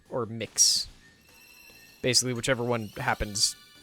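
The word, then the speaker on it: Mx.: to be pronounced as mix or mix basically whichever one happens like it's been explained to me i think several times as mix but it's one of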